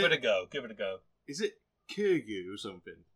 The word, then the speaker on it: Kiryu: I'm terrible pronouncing names. Give it a go. Is it Kiryu or something? Kiryu, yes, Kiryu.